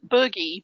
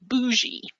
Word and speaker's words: bougie: template for these photos not boogie bougie bougie yeah like you know how do you spell boogie well boogie is spelled this way but bougie is spelled b-o-u-g-i-e and so the play on it is bougie but it looks like boogie which makes me